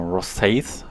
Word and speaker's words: Rosyth: Genau, Rosyth wird es ausgesprochen.